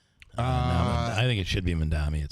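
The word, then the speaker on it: Mamdani: And I always use an M when I pronounce his name. It's Mandani. I think it should be Mandami.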